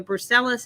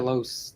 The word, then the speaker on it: Brucellosis: So brucellosis has been eradicated from cows and goats and